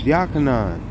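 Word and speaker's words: Yochanan: Like, it ain't John. It's Yachanan. It ain't Job.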